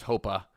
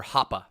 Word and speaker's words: Hoppe: Yes, Matthew Hoppe with an E at the end, not a A, but it's just pronounced Hoppe from what I'm told. Or Hoppe, sorry. Hoppe. Yes, he is another young center forward, and we got a few.